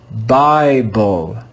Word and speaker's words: Bible: So we read the letter I with a long I sound, I, as if it came before a single consonant. Let's read this word together. Bible, Bible, Bible.